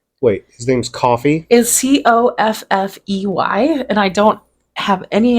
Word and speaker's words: Coffey: Is Coffey, and I don't have any idea how else to pronounce that. Okay. Coffee? Yeah. Either way, it sounds like coffee.